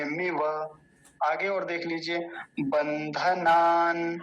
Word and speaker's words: बन्धनान्: आगे और देख लीजिए, बंधनान, बंधनान, नकार हलंत देखिए बीच में है।